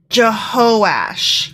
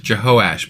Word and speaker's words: Jehoash: know what I apologize I mispronounced that it's jehosh jehosh but still jehoiah has to